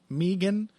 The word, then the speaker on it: Megan: the cold intro but Meegan Anderson that's the correct way to pronounce this name that is extremely upsetting